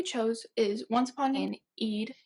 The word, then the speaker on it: Eid: celebration of Ramadan and Eid which I said Enid it's Eid I learned how to pronounce it I actually didn't listen to this